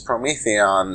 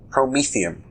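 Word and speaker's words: Promethium: I think this Prometheon, I keep saying it wrong. What do you call this? Prometheum. Prometheum. Like the guy who gave fire to the Greeks.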